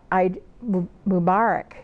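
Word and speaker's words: Eid Mubarak: of Ramadan now you can eat again so I mom Arak it's how you say it or I know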